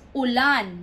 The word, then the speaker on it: ulan: u l a n that's Ulan meaning the stress is at the last part Ulan you have to read it fast Ulan and then we have